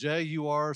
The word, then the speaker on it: Jaguar: It's uh so uh so they say it's Jagur. So that's what it is for the car company.